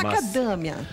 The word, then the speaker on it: macadâmia: Se fosse o nome da fruta, macadâmia. Macadâmia também não há nem E nem O na sílaba tônica. Macadã é o A que é a sílaba tônica.